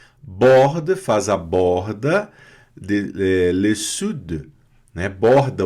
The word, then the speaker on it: sud: Quelle mer quer dizer qual mar, quelle mer, qual mar, borde faz a borda, le sud, né? Borda o sul, le sud, tem que pronunciar esse D mudo aqui, hein?